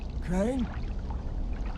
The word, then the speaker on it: Crane: my name is crane crane crane rhymes with train and brain and shine and grain and rain and plane and the other kind of plane and and can i